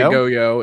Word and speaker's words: Goyo: He did say Goyo is the way he pronounces it in chat.